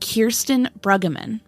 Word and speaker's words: Kirsten Brueggeman: was 26 when she vanished her name is pronounced Kirsten Bruggeman her mom is named Lisa her dad is